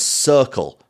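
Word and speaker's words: Cirkul: I've been sipping on is circle but that's spelled c-i-r-k-u-l you may know it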